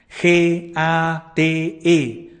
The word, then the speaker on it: gate: también debemos de acoger hay que pronunciar este mantra g a t e Gate se pronuncia así y